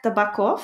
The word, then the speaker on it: Tabakov: Oleg Tabakov, I guess? Maybe Tabakov? I don't know. Oleg, yeah. So in Russian, the spelling is that O's, when you write an O, you sometimes pronounce it as an A.